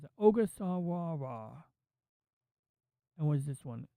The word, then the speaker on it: Ogasawara: I can't even pronounce that. Ogasawara.